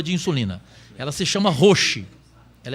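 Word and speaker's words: Roche: insulina ela se chama rochi ela é de são paulo cada um produziu de um jeito rocha roxo mas a pronúncia certa e roxo de são paulo ela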